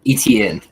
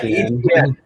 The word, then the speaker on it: Etienne: I had one other one that I was just scrolling the rankings, and Travis Etienne. I'm saying his name wrong, but the running back out of Clemson. Etienne. Yeah, Etienne.